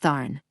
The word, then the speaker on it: Thon: Welcome the sacred sound Thon, pronounced Thorn.